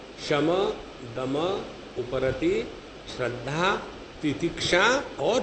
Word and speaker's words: शम: शम, दम, उपरति, श्रद्धा, तितिक्षा और फिर समाधान। पहले क्षमा नहीं, दक्षिणी लोग उच्चारण ऐसा ही कहते हैं, क्षमा, दमा।